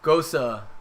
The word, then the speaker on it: Gose: So the pronunciation of ghost is the same way as the name Rosa. What? With emphasis on the O and the E, making it sound like so.